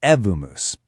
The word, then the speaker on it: Evmos: It's called Evmos, and just so we're all on the same page, it's pronounced Evmos.